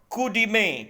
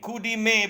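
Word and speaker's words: coup de main: 11वां शब्द जो आपके सामने अब आ रहा है वो है कूडीमे। कूडीमे बेसिकली फ्रेंच शब्द है, इसको प्रोनाउंस कूडीमे करते हैं। कूडीमे फ्रेंच शब्द है और इसका मतलब होता है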